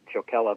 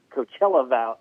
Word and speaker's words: Coachella: who spent a lot of time in the chocala value they're coachella valley it's hard for me to say i